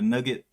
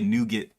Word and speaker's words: nougat: Straight caramel and the nugget or nougat or however you pronounce it. Some people say nougat. They put an extra ooh on the U. Some people say nugget.